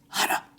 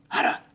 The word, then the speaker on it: hara: Hara, hara. Or in our English pronunciation, hara.